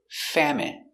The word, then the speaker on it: famine: fa M fam it famine M famine famine stress on the first syllable famine it's countable a